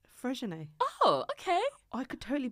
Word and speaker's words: Freixenet: You know I call it Frixonet, but I'm fully aware that it's not pronounced Frixonet. It's called Freixenet.